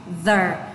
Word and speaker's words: the: Đừng đọc là giờ mà đọc là the. Vì lý do là âm TH thò lưỡi và rung ở đầu lưỡi ạ.